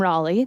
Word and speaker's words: Raleigh: Anyone who says my name wrong thinks it's named after me. That would have been incredibly selfish, but I'm Raleigh.